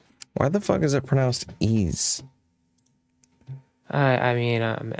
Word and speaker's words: Ys: I'm the messenger so is is it even actually pronounce these yes it is how do you know literally the developers call it that and people who review that game call it that IGN calls it that devel everyone calls it ease yeah Neon Falcom is